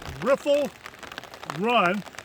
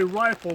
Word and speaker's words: Riffle Run: are at a campground called riffle run although some people may say rifle but it's spelled r-i-f-f-l-e i don't have a